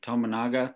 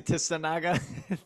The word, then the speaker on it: Tominaga: We got to get this guy's name pronounced right. Tominaga. Tominaga. Tominaga. That's Tominaga. it. Tominaga. What did I say? Tissanaga?